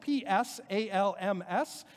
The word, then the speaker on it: psalms: is your second language in english it's spelled p-s-a-l-m-s psalms with that sort of silent p at the beginning if you're on